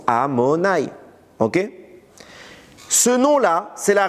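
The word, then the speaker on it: Adonaï: On le prononce pas Yutke Vafke, on le prononce Amonaï.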